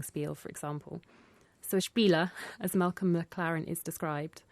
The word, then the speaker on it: spiel: The 'sh' sound at the beginning with the spelling 'sp' is not really common in English words, is it.